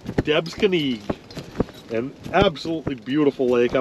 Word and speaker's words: Debsconeag: all smalls today so max what's the proper pronunciation for this lake we are on third devs kenny yeah there was he just bolted out yep debs kenny an absolutely beautiful lake